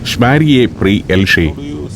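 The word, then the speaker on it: Šmarje pri Jelšah: ഷ്മാരിയെ പ്രീ എൽഷെ. പെട്ടെന്നൊന്നും അതെനിക്ക് മനസ്സിലാവില്ലെന്ന് കരുതി ഗ്രാമനാമത്തിന്റെ ഉച്ചാരണം എന്നെ പഠിപ്പിക്കുകയാണ് അലേഷ്.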